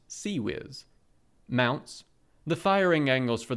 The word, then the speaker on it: CIWS: Modern close-in weapon systems ciws pronounced C whiz mounts the firing angles